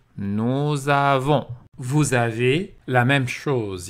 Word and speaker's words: nous avons: une voyelle à homme il faut faire la liaison est prononcé nous avons vous avez la même